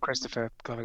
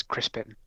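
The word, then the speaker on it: Crispin Glover: It's not Christopher Glover. It's Crispin. Crispin right. Glover.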